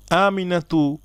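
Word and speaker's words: آمنة: যেমন এখানে হলো আমিনাতু, যদি আমি এখানে থামি, থামার সময় যে কোনো শব্দকে আমরা সাকিন করে পড়ি, এখানে আমরা উচ্চারণ করি আমিনা, বলি না যে আমিনাত, বরং বলি আমিনা।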